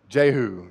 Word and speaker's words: Jehu: Gehu. Jehu. That's actually the correct pronunciation.